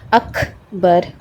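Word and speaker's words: أكبر: سانس باہر آئے گی۔ اکبر، اک، ٹھیک ہے؟ اکبر کر کے نہیں پڑھنا، اک پر آپ کی آواز رکنی نہیں چاہیے، آپ کی سانس باہر آنی چاہیے، اکبر۔ اور آخر میں را بھی ہیوی پڑھا جائے گا، اکبر، اکبر۔ آپ اس کو اکبر اردو والی طریقے سے نہیں پڑھیں گے، اکبر نہیں پڑھیں گے،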